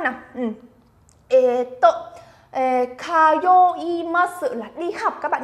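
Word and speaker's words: 通います: Chúng ta đọc là kayoimasu. Nhớ nhá, âm yo này các bạn phải lưu ý đấy. Chúng ta đọc là yo, không đọc là zo hay là giờ của tiếng Việt nhá.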